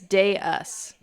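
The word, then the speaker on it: dais: It's day us. Day us.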